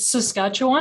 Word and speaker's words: Saskatchewan: professor in the department of English University of saskatchewan do I pronounce this correctly. Ann Martin (she/her): It saskatchewan.